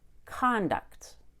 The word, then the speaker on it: conduct: very energetic conduct but when I make this word a verb that Co n is no longer con it gets reduced to cun I open my mouth less and make a short u vowel instead conduct conduct very fast